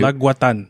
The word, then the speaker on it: Laguatan: Laguatan.